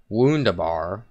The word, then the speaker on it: Wunderbar: It's Wunderbar, not Wunderbar. Wunderbar. It's pronounced the W is pronounced like a V, and the V in the German language is pronounced like an F.